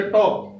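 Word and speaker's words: talk: इसी तरह के से पहले एल आ जाए, तो जैसे टॉक, टॉक में एल साइलेंट।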